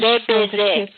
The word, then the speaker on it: Le Baiser: The opening track from Poem is Le Baiser, which is French. Le Baiser.